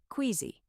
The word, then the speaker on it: queasy: It starts with a W sound, like in quick, queasy.